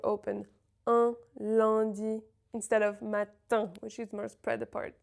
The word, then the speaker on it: matin: There's a lot of ways to spell un, but the important thing to remember is, again, the M or N is never pronounced. Matin and not matin.